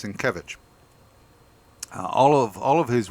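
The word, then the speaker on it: Sienkiewicz: um by uh Bill sovich uh svich S I keep getting that name wrong why is that um but it's svich all of all of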